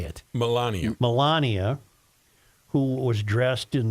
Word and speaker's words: Melania: melenia Millenia M how do you say it Melania Melania who was dressed in the Outdoor Clothing